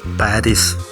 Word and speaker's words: Paris: ഫ്രാൻസിന്റെ തലസ്ഥാന നഗരമാണ് പാരീസ് ഫ്രഞ്ച് ഉച്ചാരണം പാരി വടക്കൻ ഫ്രാൻസിലെ സീൻ നദിയുടെ